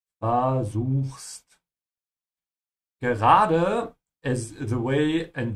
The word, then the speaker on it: versuchst: And remember to pronounce the V like an F, ja? Versuchst.